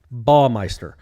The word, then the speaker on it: Baumeister: He has it phonetically spelled BAH-MY-STIR. So it rhymes with paw and maw. Correct. Baumeister.